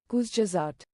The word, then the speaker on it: Kurzgesagt: I think it's German. Kurzgesagt. But yeah, this is one thing. Yeah, so yes. So this is one thing. I think this is German. It means in a nutshell.